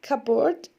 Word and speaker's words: cupboard: Look at cupboard. The P is silent here.